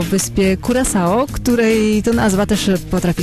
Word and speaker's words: Curaçao: mówi się o wyspie kuraso której to nazwa też potrafi sprawić sporo trudności tak dokładnie Wiele osób ma trudności z wymową natomiast taka oryginalna wymowa to Kuro czyta się przez sz czy to faktycznie jest